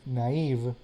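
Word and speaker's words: naïve: This word here, the A and the I are pronounced as they would be pronounced in Latin. Following the original rules, the word would be pronounced naive. However, since French and Old English tend to pronounce AI like e, then the diaresis was added here, which by the way is not longer used. But I'm showing it here as a illustration.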